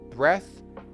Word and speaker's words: breath: Breath without the final e will be short e and the breath. Breathe.